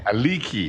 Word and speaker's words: Aliki: Did I say it right? Because I think it was, you said it, Alicia, I think, in Alice. Very close, Aliki. Aliki, Yes. okay.